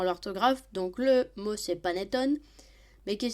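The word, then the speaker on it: panettone: Noël attention à l'orthographe donc le mot c'est paneton mais qui s'écrit P a n e t o n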